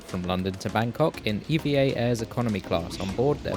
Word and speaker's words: EVA Air: Also, apparently their name is pronounced EVA Air, not EVA or AVA, so that's what I'll be saying for the rest of the video.